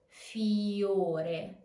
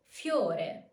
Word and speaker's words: fiore: Not fiore, but fiore. Fiore. This way, you can pronounce the diphthong with a single emission of voice.